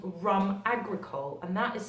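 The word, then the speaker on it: rhum agricole: It's actually called rum agricole, and that is spelled R-H-U-M, agricole, which is A-G-R-I-C-O-L-E.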